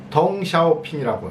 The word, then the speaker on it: 덩샤오핑: 등소평이라고 우리는 한문으로 쓰고 읽잖아요. 근데 중국에서는 덩샤오핑이라고 읽습니다. 이게 전혀 발음이 다르죠.